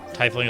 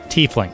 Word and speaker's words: tiefling: is almost oh so so it's tiefling so i'm pronouncing that wrong okay so the i is uh oh so the i is silent t fling okay okay okay it's not like i okay so it's a